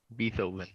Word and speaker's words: Beethoven: Beethoven is BEETHO. OVEN. Beethoven. It's beat and then oven or H oven. Tchaikovsky. Sorry, what? Orchestra. Violin. Beethoven. Oh. It was Beethoven.